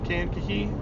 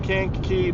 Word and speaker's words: Kankakee: I think is how you say that, Kankakee.